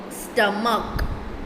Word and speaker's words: stomach: Okay, here it's pronounced like k, stomach.